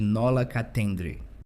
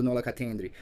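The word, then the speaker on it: nolo contendere: e apresentou uma de Nola Catendre. Eu pronunciei errado, Nola Catendry. Acho que agora estou dizendo certo duas acusações, exercício ilegal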